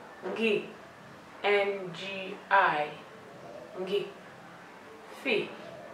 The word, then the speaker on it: ngi: Careful when pronouncing the ngi. You can use your phonics key by pronouncing it ng, I, ngi.